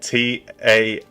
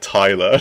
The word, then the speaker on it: Taylor: Okay, because he said Taylor like Tailer, and then he said Tyler.